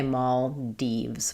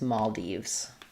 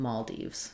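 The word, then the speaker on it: Maldives: Um, yeah, they say Maul Deves, but then some variance dives. Um, um, yeah. So, there's actually quite a few different ways it's pronounced listed in that dictionary, meaning that um depending on where you are, there's going to be different variants. Um but the most common is Maldes.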